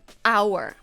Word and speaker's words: hour: Hour. So the H is silent.